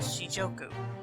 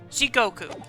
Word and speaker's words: Jigoku: Jigoku. I keep getting the name. I keep saying the name wrong. I'm reading it like it's a J in the second syllable instead of a G.